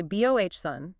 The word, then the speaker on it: boatswain: You see, boat s w a i n, but you say bohson.